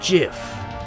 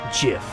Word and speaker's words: GIF: it's not the truth it's pronounced jiff huh dot jiff like the peanut butter the creator said so